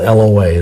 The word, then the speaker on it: Loa: lying and deceitful spirits of the voodoo Loa, it's spelled L-O-A, Loa, would be bound from influencing that person